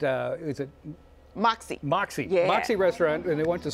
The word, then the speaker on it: Mäksē: Vacaville where at uh is it Moxy Moxy Moxy restaurant and they want to spend the holiday